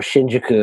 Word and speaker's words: Shinjuku: the one and only Shinjuku or Shinjuku as it's really meant to be pronounced um amazing place in